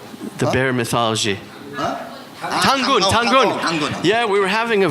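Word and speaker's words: Dangun: of the old Korean myths of is it Donggun? No, the bear god. How do you say his name? The bear mythology. Tangun.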